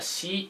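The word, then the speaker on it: 士: This is called pronounced as a shi in Japan.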